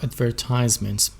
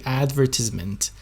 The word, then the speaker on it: advertisement: of car advertisements so advertisement is an american accent so if you want to pronounce it in a british accent you can say advertisement advertisements okay advertisement is a british accent but in american accent we say advertisement but in british it's it's advertisement be careful about that